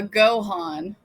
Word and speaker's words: Gaughan: Oh, uh Gohan. That's like uh Dragon Ball Z. It's pronounced literally exactly like that.